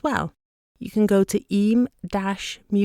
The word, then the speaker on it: Eyam: i am by the way even though it's pronounced e so check that out and you'll find out